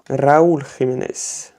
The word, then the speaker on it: Raúl Jiménez: Et ensuite, du coup, ça c'est un extra, Raúl Jiménez, du coup, Raúl Jiménez, pour la bonne prononciation.